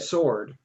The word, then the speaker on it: sword: call it that's because you always pronounce it with the w and that's wrong how do you say it sword sword well excuse me